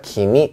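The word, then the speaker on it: 君: 아나타, 키미, 오마에 이렇게 3가지 표현이 있습니다. 아나타는 존칭이에요. 당신이라고 부르는 거고요. 키미는 너라는 표현입니다. 너. 이거를 키미라고도 읽지만 이름 뒤에 붙이면 쿤이라고 읽기도 하는데 그건 우리가 김군, 박군 할 때 그 군자랑 같은 역할을 해요.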